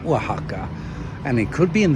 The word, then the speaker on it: Oaxaca: So, I've been talking a little bit about before that Waka, there's an X inside that name, Waka.